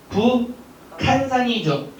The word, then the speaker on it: 북한산: 북한산이죠. 뭐가 된 겁니까? 기역과 히읗이 만나서 축약이 이루어져서 북한산.